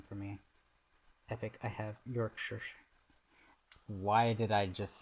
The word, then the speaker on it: Yorkshire: Nah, it's pronounced like sure. Yorkshire? Oh, that does make sense. Looks like Shire, but pronounced shore.